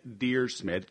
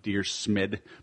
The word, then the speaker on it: Dyrsmid: we have today so it's dear smid kind like Dear John but dear smid but it's not spelled